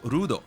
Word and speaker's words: Luud: By the way, it is Luud. I haven't seen uh GT in a while, but I was looking it up and it is Luud cuz it says Ruudo. That's how they say it in Japanese.